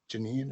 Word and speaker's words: Janine: Janine, Jan, Janine is how you say his name.